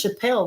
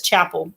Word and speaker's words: Chappelle: And he watches his new teacher, I thought it was Chappelle, like the Chappelles in our community, but she says Chapel, but it's spelled like Chappelle.